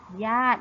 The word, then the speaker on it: ญาติ: ว่า ญาติ นะ คะ คือ จะ มี สระอิ อยู่ บน โต๊ะ เต่า เหมือน กัน แต่ เรา จะ ไม่ อ่าน ออก เสียง สระ อิ เรา จึง อ่าน คำ นี้ ว่า ญาติ นั่น เอง ค่ะ จะ ไป มา ดู